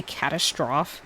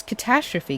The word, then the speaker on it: catastrophe: Did he just say catastroph? It's catastrophe, Kim. Do people actually pronounce it catastroph?